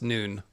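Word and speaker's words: Nun: It's noon. All right. Oh, I guess like newt instead of nut. So newt and noon.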